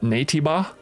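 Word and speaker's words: Naytiba: are out there that they call well they pronounce it NABA um but uh very early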